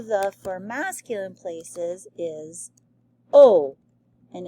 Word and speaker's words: au: other okay so o it is pronounced o just like that so let's make this